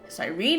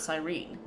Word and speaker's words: Cyrene: Cyrene is how you say it, not Cyrene.